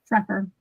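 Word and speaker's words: Schrefer: Shreffer.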